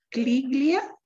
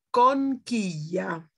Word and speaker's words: conchiglia: Con Cliglia. Ok, questo non è un bambino, però è una parola un poco difficile, no? Si pronuncia conchiglia.